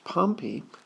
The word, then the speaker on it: Pompey: Pompey now remembered it to pronounce that properly its Pompey not Pompey Pompey was a city south of Rome that got buried with a big eruption from Mount Vesuvius Vesuvius excuse me Vesuvius and